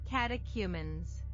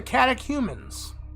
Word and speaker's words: catechumens: Catechumens. Catechumens. Catechumens. Okay. So, the scrutinies of the catechumens.